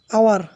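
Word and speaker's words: hour: তারপরে আছে আওয়ার, আওয়ার শব্দটি এইচ এর উচ্চারণ হয় না, তাই এটি ভাওয়েলের মতো উচ্চারিত হয়, এর পূর্বে এ বসবে।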